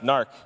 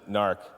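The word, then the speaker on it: Knarch: just being clear okay so gnarrk DB it's pronounced narc and I'm gonna have a new name cuz nobody pronounces it narc I thought I was being clever with my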